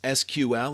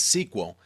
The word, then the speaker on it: SQL: SQL structured query language SQL pronounced as SQL or sometimes as sequel is actually the standard